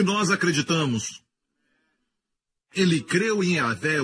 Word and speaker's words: Yahvé: Se pronuncia como Yahvé.